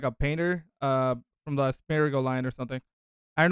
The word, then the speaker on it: Smeargle: Smurgle. Smeargle. Yeah, yeah. Yeah. I was close. So he looks like more of those Pokemon that look like a painter. From the Smeargle line or something.